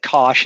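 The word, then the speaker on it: cosh: and you know what I think people put those soundings like Kos and cinch to remind them to put the H in because when I say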